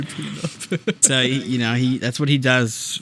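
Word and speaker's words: Pnub: It's Peanut. It's such a dumb name, but I love it. Yeah, I keep looking at it like I'm not pronouncing that right, but Peanut. It's literally Peanut.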